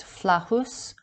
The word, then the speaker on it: Flatus: The name word Flaccus is a corruption of the character name Flatus, pronounced Flahus, meaning a lord, lordly, implying a spiritual being or person.